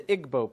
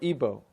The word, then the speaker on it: Igbo: You have the Igbo people, or Ibo, pronounced either way.